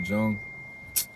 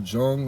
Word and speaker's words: Jung: it's wow because uh carl carl jung or carl young however you pronounce it c-a-r-l and then last name is j-u-n-g right was a psychologist